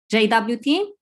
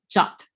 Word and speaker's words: JWT: hear the pronunciation as jwt but the rfc suggests the same pronunciation as the english word jot by the way jot